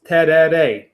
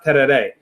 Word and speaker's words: Tereré: So today we're talking about Tereré, and it's kind of difficult to pronounce. Tereré. It has that "rey" at the end.